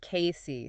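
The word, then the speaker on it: Cayce: Jim Cobb was checking out a building in case and for our listeners, that's pronounced Casey. C A Y C, right?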